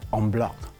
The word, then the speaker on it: en bloc: I'm saying no, this is French, so it should be pronounced as en bloc, and which quite rightfully many people pronounce it correctly.